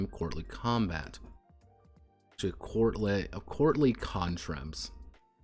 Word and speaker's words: contretemps: Actually, courtly contremps. Contremps? Is that how you pronounce it? Contretemps.